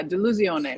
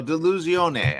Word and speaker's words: Delusione: pleasure to be here you say uh de lucione like delusional in Italian yes so delusione I love that uh